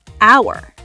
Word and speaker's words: hour: What about hour? Hour. The H is silent.